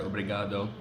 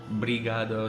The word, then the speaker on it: obrigado: For example, the word obrigado, which means thank you. I've heard people say brigado, so they don't say the O.